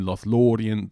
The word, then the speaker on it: Lothlórien: syllable breaks up here, then we can see that this IE here is always two syllables, so in Lothlorien, the lo is the third last syllable, and then ri and n are two more syllables.